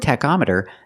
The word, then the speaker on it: tachometer: call it a Teter with the word tachometer the CH makes a C Sound ctac tachometer you check the tachometer to